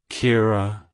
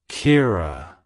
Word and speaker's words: Kira: it's pronounced as kir Kira Kira to pronounce it correctly emphasize the e e sound and roll the r slightly like hello Kira goodbye Kira if you